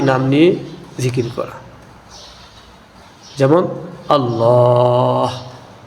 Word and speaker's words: আল্লাহ: যেমন আল্লাহ আল্লাহ শেষে হা আছে।